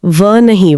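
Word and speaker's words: wohne: German W का उच्चारण हिंदी के व की तरह बोला जाता है। अंग्रेजी के डब्ल्यू की तरह नहीं। अच्छा व नहीं व। बिल्कुल। तो वो का उच्चारण वोन होगा।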